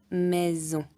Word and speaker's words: maison: Par exemple, une maison. Quand on a le S avec une voyelle devant, une voyelle derrière, le S on ne prononce pas S, on prononce Z, maison.